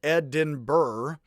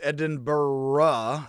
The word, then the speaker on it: Edinburgh: It looks like Edinburgh. It's technically pronounced Edinburgh, as if the H is an A on the end.